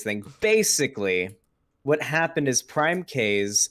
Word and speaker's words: PrimeCayes: basically what happened is prime k's or prime kai is how it's actually pronounced but i refuse to pronounce it that way i'm going to say k's because it feels better um prime case was